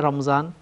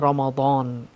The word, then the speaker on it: রমাদান: একটু বিকৃত উচ্চারণে যায়, তেমনিভাবে রমজান এটাও বিকৃত হয়ে গেছে। মূল শব্দটি হলো কোরআনের শব্দ রমাদান, শাহরু রমাদান আল্লাযী উনজিলা ফীহিল কোরআন। তো এই জন্য মূল শব্দ হলো রমাদান, এবং শাহরু রমাদানকে যখন